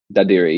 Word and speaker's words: Dadirri: Dadirri, yeah.